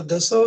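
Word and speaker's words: Dassault: बारे में, वो जो डसॉल्ट जो कंपनी है जिसका फ्रेंच उच्चारण दसो है, उस कंपनी को मुहैया कराए, जिसके आधार पर सौदे की शर्तें बदलने में उसे मदद मिले।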